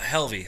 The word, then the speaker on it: Halvie: Uh Helvy.